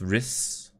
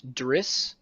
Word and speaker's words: Riss: But now House Macedon and House Riss are planning to make an alliance. House Driss? Riss. Riss. R-I-S, but pronounced like W-R-I-S.